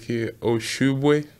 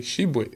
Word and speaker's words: Tshiebwe: The crazy one I hear was somebody called me like Tshiebwe, like Tshiebwe, something like that. I was like, who are you calling? Like, that's not my name. That's not me. My name's like in French pronunciation is French. Like I probably say they call it Tshiebwe. But it's here to make it a little bit easy. You can call me Tshiebwe. That's how I say it, like Tshiebwe.